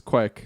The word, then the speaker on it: quaich: me that is it Quake or Quake? Uh, it's Quake like Earthquake.